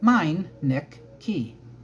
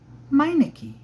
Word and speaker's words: Miniki: who are reading this it sounds sounds like this m niik key miniki David Scott miniki she